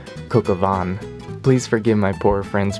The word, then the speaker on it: Coq au vin: I was saying Kokavin, but apparently it's pronounced Kokavan.